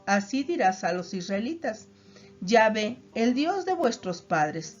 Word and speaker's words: Yahvé: La gran mayoría de los eruditos, tanto cristianos como hebreos, cree que el nombre se pronuncia como Yahvé.